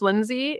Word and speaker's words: Lynsea: music my name is it's pronounced Lindsay it's normal pronunciation but it's spelled l